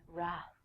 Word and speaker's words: wrath: trek fans out there wrath famously the wrath of khan i have no idea what the wrath of khan is but i will tell you that the w is silent so don't say it next one is right